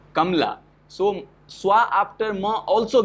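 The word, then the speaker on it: कमला: So what happens if we do not pronounce word Kamla as Kamala, it's Kamla.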